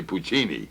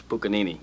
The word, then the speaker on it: Puccini: pronounce Puccini, I but do it's not. actually Puccini. I thought it was Puccanini.